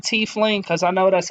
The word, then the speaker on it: tiefling: By the way, I said tiefling because I know that's how it's pronounced.